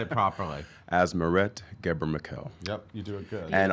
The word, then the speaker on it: Asmeret Ghebremichael: Asmerette Geber-McKell.